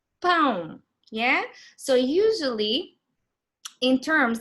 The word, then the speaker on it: pão: So usually, in terms of the pronunciation, whenever you see that tilde, it means that it has a nasal sound, yes? So you need to focus on pronouncing that nasal sound.